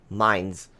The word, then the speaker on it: Mainz: 8 German Cruiser Mainz Mainz I pronounce it as mine's and that's how I